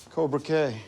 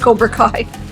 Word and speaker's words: Cobra Kai: I'm such an idiot Cobra Kay yes an idiot and then he just mispronounces Cobra Kai an AP Physics Prep